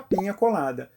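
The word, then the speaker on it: piña colada: que os outros famoso e mal pronunciado é a Penha colada feito com o leite de coco e suco de abacaxi daí o seu nome Pinha é abacaxi em espanhol e aquele Tio em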